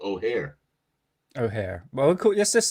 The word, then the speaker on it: O'Hare: O'Hare? O'Hare? Think of hair. You're right. Hair. O'Hare. Think of the hair.